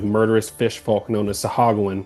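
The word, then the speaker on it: Sahuagin: And on the way, they were attacked by a band of murderous fish folk known as Sahaguan. I think it's pronounced Sahogan, but I don't like that.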